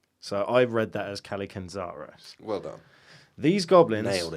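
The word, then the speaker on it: Kallikantzaros: So I've read that as Kalikanzaros.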